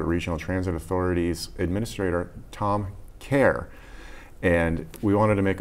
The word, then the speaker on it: Cahir: know obviously know that it's pronounced care I remember all the